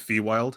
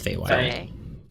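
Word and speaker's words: Feywild: wild perfect perfect pronounced is it is it fee wild i think it's fay white we're gonna go over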